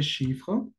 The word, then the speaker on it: chiffre: Le numéro también lo pueden llamar como le chiffre. Chiffre. La misma situación, es final, ne se prononce pas.